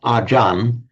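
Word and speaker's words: อาจารย์: So what is acharya in Sanskrit, acharya in Pali becomes, essentially the same word, becomes ajan in Thai.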